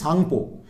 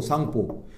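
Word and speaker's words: Tsangpo: তিব্বতে গিয়ে নাম হয়েছে সাংপো সাংপোটা শুরু হয় এরকম টি এস এ এন জি পি ও সাংপো তো সাংপো থেকে নিলাম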